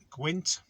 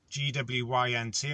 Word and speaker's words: gwynt: so it's the Welsh word for wind is gwynt, G-W-Y-N-T. I'll spell this one out to you, because if you read it in English it kind of sounds, pronounce it right, so it's gwynt.